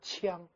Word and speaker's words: 将: 同时呢还要读一种声，有一个发音应该读作枪，枪不是枪而是枪。